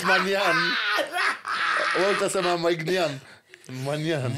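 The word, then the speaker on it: Maignan: I know it's Manian. Walter Sama Mike Nian. Manian. Mike Mignon.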